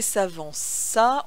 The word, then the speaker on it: s'avança: le verbe s'avancer et s'avança on n'oublie pas cette fois ci la cédille sur le sou le sait de telle sorte que le ces se prononce ce et s'avança à son